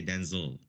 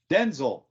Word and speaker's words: Denzel: It's because it follows the British spelling. They would say Denzil. Denzel.